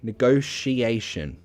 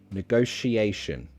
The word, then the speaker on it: negotiation: say it with me negotiation negotiation second way negotiation negotiation two ways to pronounce it as a Shh or your choice negotiation sounds more posh negotiation sounds more normal that's what I say